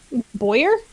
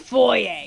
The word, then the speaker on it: Foyer: Boyer? Foyer. Oh, Foyer. It's pronounced Foyer.